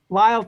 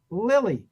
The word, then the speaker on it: Lyle: they were pretty good whoever it was he pronounced her name he said the name Lyall tail like the ubiquitous character actor Lyall tal spelled and sounding the same l y l e ly not Lily why should a name spelled the same like